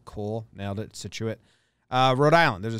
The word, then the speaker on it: Scituate: to see if i yeah that's how you pronounce it he said cool nailed it situate uh rhode island there's a scituate mass as